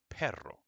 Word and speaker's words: perro: PE oh and here it is PE hey perro okay which is dog friends Autumn dog all